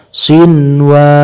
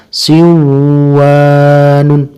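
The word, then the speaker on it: صنوان: tidak boleh dibaca kwanon yang ketiga sinwanun tidak boleh dibaca Sewu Anun untuk kaidah nya adalah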